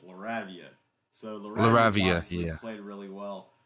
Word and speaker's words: Lavia: It's not Laredo, it's Lavia.